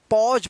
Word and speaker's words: pause: देखिए यहां पे PAUSE, देखिए सब इस वर्ड्स जो भी है इसमें एक के बाद यू आया है तो एक का यहां पे क्या उच्चारण होगा, पॉज पढ़ेंगे।